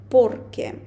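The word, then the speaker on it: porque: що то ми використо порке це одне слово і наголос падає нам О не сплутайте Ну і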